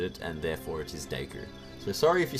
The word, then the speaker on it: Deku: recall right now but it's clearly based even just going on the sole fact that it is it's japanese it must be deku that's just how they